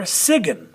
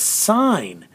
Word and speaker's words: sign: consonant in also design it's not d ziggin or sigin it's sign and so is there